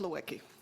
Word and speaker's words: Lewicki: your name pronounced correctly I tell people what my parents came to Canada they were having a sale on consonants so they stocked up but it's it's pronounced Lewicki okay thank you so